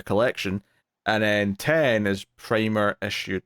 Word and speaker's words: Primer: And at some point, someone said Primer, but they pronounced it Primer, and I was triggered. I was so triggered by this posh pronunciation.